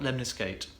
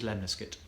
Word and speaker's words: lemniscate: The Lemniscate, not Lemniscate, it is Lemniscate. Like biscuit.